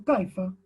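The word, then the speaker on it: كيف: O decimos kaifa, si queremos preguntar kaifa haluka o kaifa haluki, ¿cómo estás? Y bueno, después se pronuncia kif, kif el hal, ¿no?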